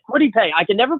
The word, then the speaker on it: Kwity Paye: Kitty Pieway, the defensive end from Michigan. Maybe, Kwity Paye. That's it, Kwity Paye.